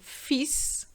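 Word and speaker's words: fils: farm is wife and fis is sun be careful there's an s normally the final s is silent in french but not for the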